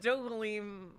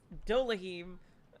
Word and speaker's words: Dohalim: No, me with Dohalim, like, was just because I kept forgetting how to say it. Because Dolahim, like, rolled off the tongue better than Dohalim.